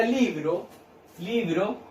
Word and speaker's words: libro: La palabra libro, la separo en dos sílabas. Libro. ¿Dónde cargo la voz? En la sílaba li.